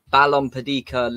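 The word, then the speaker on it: Balompédica: spanish league uh tom you know how to pronounce it don't you i completely forgot what it was yeah balon padika there you go that's yours beautiful look at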